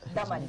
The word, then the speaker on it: Daman: I think Daman has a great point of view, and Daman,